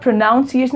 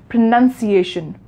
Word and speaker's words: pronunciation: So sometimes when students pronounce this word, it has O in it, while the word pronunciation has no O in it. This is why people mispronounce it. They confuse between pronounce and pronunciation. They sometimes pronounce it like pronunciation. So it is not pronunciation, it is pronunciation, right?